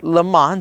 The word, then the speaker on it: Le Mans: across the world, even to Le Mans, or Le Mans, that's how us Americans usually pronounce it, right?